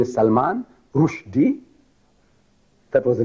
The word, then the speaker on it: Rushdie: His name is Salman Rushdie. That was the name. Salman, name of the Sahaba. Salman Farsi, his father gave him. And Rushdie, see, Rushdie should be spelled rightly the way we pronounce Rushdie, R-O-O-S-H.